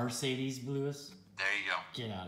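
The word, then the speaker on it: Marcedes Lewis: you're going to miami dolphins dion jordan mercedes lewis no you said the name wrong mercedes lewis there you go get out of here you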